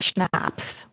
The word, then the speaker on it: CHNOPS: know what these are we are made of schnapps and that would be the phonetic pronunciation of those elements carbon hydrogen nitrogen oxygen